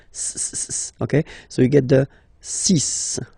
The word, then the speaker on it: six: be careful here because even if it's ending with this x well you'll have to pronounce it like s okay so you get the sis pronunciation sis okay so it's not six it's sis all right